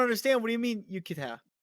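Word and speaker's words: 浴衣: It's yukata, not yukata. It's not the Yucatan Peninsula. I don't understand. What do you mean yukata?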